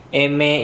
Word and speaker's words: eme: Terakhir di samping kanannya N adalah M Eme itu adalah huruf M, Mike dalam bahasa Indonesia, huruf M dalam bahasa Spanyol dibacanya eme.